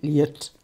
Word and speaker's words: Lëd: On commence par Caril Ferret avec un livre donc que vous prononcez L'aide. Et alors, je vais un peu faire ma frimeuse, pardonnez-moi, mais il paraît qu'on dit liette.